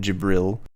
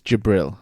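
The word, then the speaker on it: Djibril: his name is Lord jibril or jibril you say gibral gibral it's jabril jibril all right Lord D is silent Brian come on you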